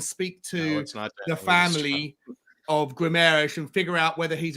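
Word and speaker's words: Guimarães: But how do you know whether the 60 million pound player you buy is the Grameres, or is his name Grameres? Is that, am I saying it right? Guimaraes, but yeah, it doesn't matter.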